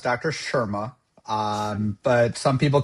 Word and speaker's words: Sharma: So it's actually pronounced Dr. Sharma.